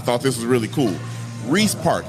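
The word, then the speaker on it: Riis Park: this was really cool Reese Park am I saying it right rice or Reese Park Reese Reese I was I'm glad Reese Park okay let's talk about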